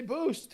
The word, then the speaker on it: boost: learn how to say boost it's got a t on the end well so I I